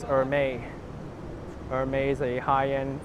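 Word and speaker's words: Hermès: to pronounce very well it's Hermes now I'm just kidding it's or may or may is a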